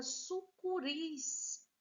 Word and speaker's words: sucuris: Depois, nós temos a palavra sucuris, ouris, sendo mais forte, última sílaba. Portanto, também é uma palavra oxítona.